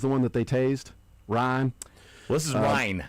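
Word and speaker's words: Ryne: But somebody from the town that this person's from would pronounce Ryan.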